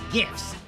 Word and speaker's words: GIF: it's pronounced memes and gifts with hard G uh I'm I'm with